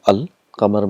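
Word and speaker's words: القمر: For example, we have qamar, and we got this definite article al. Qamar means moon. So when you get al plus qamar, it becomes al qamar. So all the letters are pronounced clearly, al qamar.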